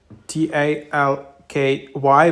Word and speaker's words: Talki: app so it's uh you can spell it like t a l k y but it's talky so this is the